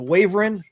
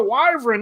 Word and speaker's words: wyvern: just like you know I used to call the the wyvern the wavering oh it's a wyvern not a wavering I was like [